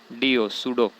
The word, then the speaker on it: pseudo: नकली को इंग्लिश में बोलते हैं स्यूडो, PSEUDO, सूडो। इसमें पी साइलेंट है तो स्यूडोपोडिया इसको बोलते हैं।